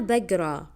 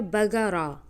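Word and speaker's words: بقرأ: আনা বাগরা, আনা বাগরা, আনা বাগরা। অনেকরা হয়তো চিন্তা করবেন যে এটা বাগারা, বাগারা না, আসলে এটা উচ্চারণটা খেয়াল করবেন, বাগরা, আনা বাগরা, ঠিক আছে?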